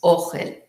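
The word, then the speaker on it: אֹכֶל: Her Polish-influenced Hebrew pronunciation made the unfamiliar tint indistinguishable from the familiar food. That would be ohel, and the other one is ochel, but they both sounded the same.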